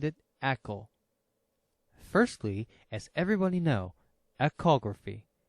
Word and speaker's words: ECO: why we called it Echo firstly as everybody know echography is a sound technolog like Echo so we take the same pronunciation Echo like echography for the easy memory the second reason is